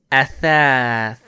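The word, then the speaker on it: أثاث: Now you hear again, if we pronounce this word athath, you hear that sound in the third letter.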